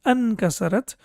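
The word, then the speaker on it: أانكسرت: So when it comes before Hamzatul Wasl, then it becomes Sakin, so that's why it becomes Ankasarat.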